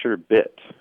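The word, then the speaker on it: sherbet: said no no it's sure bit with no second r at the end and he showed me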